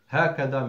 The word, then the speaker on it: هكذا: And likewise, وهكذا, there is ألف between the ها and the كاف, pronounced not written. هكذا means likewise.